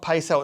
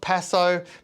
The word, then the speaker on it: Paso: It's not peso, it's paso, paso, paso, paso. And it's actually a style of rare horse.